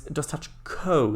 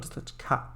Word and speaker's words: Dostachko: It's the I keep focusing on the beginning of it, like the DOS part, but actually the end, where it's Dostachko, not Dostachka. So ko.